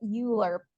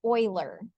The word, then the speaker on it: Euler: is it okay it's it looks like we would say it Euler but it's spelled like oil like an oil field we need oil to fry our chicken um it sounds like Oiler that's what it sounds